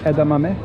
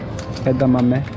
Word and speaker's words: edamame: is pretty close here we got some edamame it's for those who want to know how to pronounce it edamame edamame 30% off that's your best like a buck